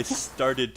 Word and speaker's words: started: If there's ever a verb or a word that ends with T or D, and then you add one more, and then you want to make it past tense, so you add ed, you always add one more syllable. Just to give you an example, start has one syllable. Started has two syllables.